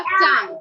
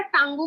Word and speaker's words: tongue: যেমন ফগ বা টাং, TONGUE, টাংকে কি আমরা টাঙ্গু বলছি নাকি টাং বলছি, বা হচ্ছে ডেলিশিয়াস, ডেলিশিয়াসটাকে